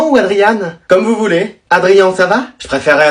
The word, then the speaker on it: Adrien: Adrien, ça va? Je préférerais Adriane.